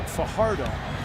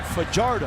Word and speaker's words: Fajardo: Now many would pronounce his last name Farardo. He pronounces it Fajardo.